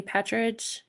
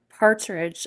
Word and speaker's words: Partridge: Astrology King is um Jamie Patridge. Partridge. I'm sorry, I mispronounced his name.